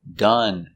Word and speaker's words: done: Example, done, finished. Again, the sound is relaxed. Done.